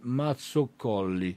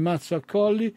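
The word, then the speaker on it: Mazzacolli: lo scultore salentino gianni mazzo colli ecco correttamente gli fa notare il fonico la pronuncia gianni mazza colli vediamo se c'è anche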